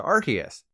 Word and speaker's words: Arceus: When Arceus was first revealed, it was officially pronounced Arceus. But then the Pokemon Company realized that Arce means but in certain places of the world, so they changed it to Arceus.